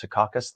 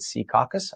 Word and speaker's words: Secaucus: For those of you in other parts of the state, it's not pronounced Secaucus. The locals pronounce it Secaucus.